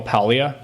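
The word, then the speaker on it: Paglia: So, I I read a lot of um I'm going to sound like I'm mispronouncing her name, but I'm actually pronouncing her name correctly. I promise you. Camille Palia.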